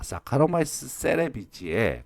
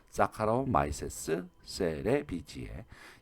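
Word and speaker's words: Saccharomyces cerevisiae: 자, 사카로마이세스 세레비지에 꼭 지금 한번 발음해 보세요. 사카로마이세스 세레비지에.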